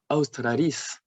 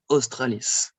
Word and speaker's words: Utricularia australis: A and U is also a diphthong, AU, like in Utricularia australis, and not australis.